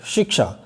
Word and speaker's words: शिक्षा: क्या होना चाहिए सही उच्चारण? शिक्षा, शिक्षा, श, बाद में श की ध्वनि आनी चाहिए, क्योंकि इसमें बाद में श है, श है, श की ध्वनि आनी चाहिए।